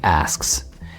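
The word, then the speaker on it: ASC: I call them the asks. We spell it A-S-C, and it sounds like ask because that's the whole point.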